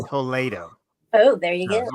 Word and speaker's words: Toledo: it is toled in Spain and it is pronounced toled oh there you go correct okay educational podcast